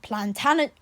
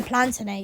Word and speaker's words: Plantagenet: Tudor, the House of Stuart, the House of Plantagenet, how do you pronounce it? Plantagenet. I don't know how to say it. Plantagenet. Oh yeah, Plantagenet.